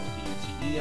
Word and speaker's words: Bute: They're called boots, I think. I don't know why they're called that. B-U-T-E, I know that's pronounced like a Bute, who knows, who cares?